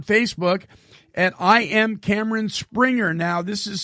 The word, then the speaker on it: Sprenger: And listen, you can get more from Cameron by visiting him on Facebook at I Am Cameron Springer. Now, this is spelled Sprenger.